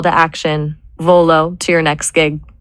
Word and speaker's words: Volo: But you can actually rank for what about V O L O V O L dot? It's two syllables. It sounds like volunteer or velocity.